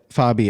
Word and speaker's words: Fabi: By the way, Fabi, am I pronouncing that properly?